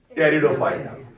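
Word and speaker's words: Pteridophyta: आप ध्यान दें, टेरिडोफाइटा की स्पेलिंग में पी साइलेंट है, स्पेलिंग पी से शुरू हो रही है। सर P silent Pterid- पी से शुरू है। स्पेलिंग पी से शुरू हो रही है, प्रोनाउंसिएशन टेरिडोफाइटा है।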